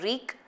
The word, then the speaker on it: wreak: You pronounce W-R-E-A-K as reek, like R-E-E-K, reek, and this you pronounce it as rec, like deck.